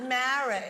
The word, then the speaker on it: Meara: Who's the It's pronounced Meara in Ireland.